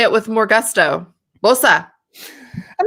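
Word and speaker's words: Boese: right i pronounce it bose but the german pronunciation is more like bosa i think or both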